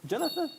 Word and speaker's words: Jonathan: Pronunciation? Jonathan. Jonathan? Yeah. T-H is 번데기. 번데기.